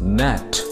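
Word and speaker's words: gnat: we pronounce this word g n a t we pronounce this word as net net meaning of this word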